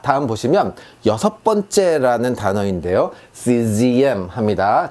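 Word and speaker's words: sixième: czm 합니다. 자, 지읒 발음.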